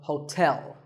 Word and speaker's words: hotel: interesting number 12 is hotel there are two syllables ho and tell like the English word tell as in tell me the stress is on the second syllable so hotel a related word is